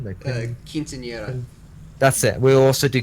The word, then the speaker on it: Quinceañera: Quinceañera? No, Quinceañera.